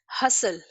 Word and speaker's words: hustle: ठीक है, वैसे ही hustle, HUSTLE, TL एक साथ यूज हुए हैं, in this case T is silent.